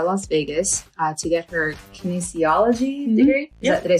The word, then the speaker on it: kinesiology: She's currently going to the University of Nevada, Las Vegas to get her kinesiology degree. Did I say it right? Yeah, kinesiology.